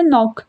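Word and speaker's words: knock: Then यहां पर है नॉक। तो इसमें क्या साइलेंट हो रहा है? बोलने में क्या लग रहा है बच्चों? आपको नॉक। तो यहां पर के साइलेंट है।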